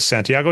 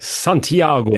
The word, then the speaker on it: Santiago: And then we end with, Sarah shows up again, way overacting, overpronounces Santiago, which is actually the correct pronunciation, but just hasn't been said. Santiago.